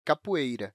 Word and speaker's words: capoeira: No dia a dia podemos falar ou ouvir "capueira", que é uma pronúncia comum, mas você sabia que a palavra "capoeira" é é escrita assim com "o"?